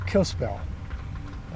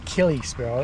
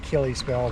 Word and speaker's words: Kalispell: in the way we were spelling it or pronunciating it. It's called Kalispell. They let us know that when we mispronounced it. It's Kalispell. It looks like Kalispell, but they say Kalispell.